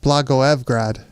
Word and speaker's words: Blagoevgrad: So apparently it's pronounced Blagoevgrad.